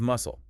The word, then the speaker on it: muscle: Same with muscle and muscular. The c in muscle is silent, but it connects it to muscular, where it is spoken.